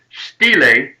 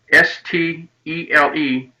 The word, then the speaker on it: stele: and i'm speaking about the inscription on the stele s-t-e-l-e stele is how it's pronounced uh and there's a picture of it